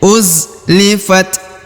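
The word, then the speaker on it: أُزْلِفَتْ: Wa idzal jannatu, jannatu, kemudian uzlifat, huruf za berharokat sukun. Uzlifat, huruf ta yang berharokat sukun, jadi dia kita membacanya dengan ya mengeluarkan sedikit hembusan udara.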